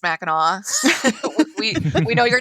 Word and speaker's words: Mackinac: not familiar is that no matter how it's spelled it's pronounced mackinaw we we know you're